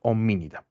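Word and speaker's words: Hominidae: la familia oía eh Cuando vean la palabra a e bien en muchas palabras en latín la e no se pronuncia cuando está al final bien Esto es homínida dentro de la familia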